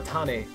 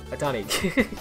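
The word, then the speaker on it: Ohtani: Yeah, Tomio Atane. Wait, Atani? Atani.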